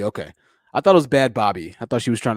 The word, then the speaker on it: Bhad Bhabie: we're gonna talk about bad bobby i believe that's how you say her name properly not bad baby but bad bobby and her million dollar